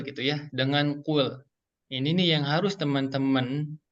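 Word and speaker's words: قُلْ: Diawali, ayat yang pertama itu diawali dengan kul gitu ya, dengan kul. Ini nih yang harus teman-teman perhatikan ketika baca kul ini, jangan sampai membacanya malah menjadi huruf kaf nih.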